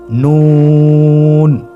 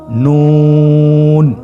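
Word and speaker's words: نون: নুন হরফটি উচ্চারণের ক্ষেত্রে অবশ্যই পাতলা করে উচ্চারণ করতে হবে এবং 3 আলিফ টেনে পড়তে হবে। আপনারা আমার সাথে বলুন নুন। আরেকবার চেষ্টা করুন নুন।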